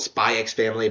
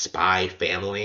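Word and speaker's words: SPY×FAMILY: family people call it spy x family but it's actually pronounced spy family and like the x is just silent which is kind of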